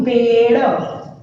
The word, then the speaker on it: पेड़: बट मैं लिखूंगी पेड़, पेड़, तो मैंने देखो अ का उच्चारण नहीं किया और ड पे थोड़ा जोर भी लगाया, वजन में, पेड़।